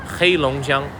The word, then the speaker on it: Heilongjiang: We are in the city of Harbin, but the name of the province, the name of the state is called Heilongjiang. 3 syllables, Heilongjiang. Okay, that's the name of this place.